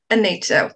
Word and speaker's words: Anita: Yeah, so Anita is traditional Latvian pronunciation, but in New Zealand, Anita with stress on the second syllable.